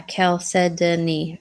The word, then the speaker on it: chalcedony: color just like mother-of-pearl Michelle it's chalcedony but pronounced yeah chalcedony exactly very good Thank You Francis what did